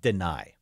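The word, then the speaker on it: Dani: name well that'll happen it is not Danny Dennis is spelled D N I he says it deny yeah Den the opportunity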